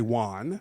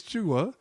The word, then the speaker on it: Jua: it in and say Juan oh as if I don't know how to spell my name so um so I said no it's cha um and when I